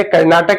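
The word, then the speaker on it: Carnatic: रखिएगा इसलिए लिख दिया कर्नाटक का युद्ध और कार्नेटिक का युद्ध ये कार्नेटिक रियासत थी इसी के नाम पर कार्नेटिक डाला गया है यही सही उच्चारण है इसका तो यही तृतीय कर्नाटक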